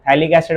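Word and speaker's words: phthalic: आएगा इस चैप्टर में पीए साइलेंट होता है शुरू में ठीक है थैलिक एसिड बोलते हैं इसको ये भी एरोमेटिक कार्बोिलिक एसिड ही है क्योंकि दोनों COH बेंजीन को डायरेक्टली अटैच्ड है।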